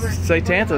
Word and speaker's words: Satanta: guys see if y'all can say it correctly say tanta there you go we're on a bus okay